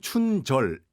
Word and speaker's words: 춘절: 라고 하시는 분도 계시고 춘절 어 이라고 하시는 분들 있음 어째 달라요 우리 발음은 춘절 이 맞습니다 음 그 근데 이것을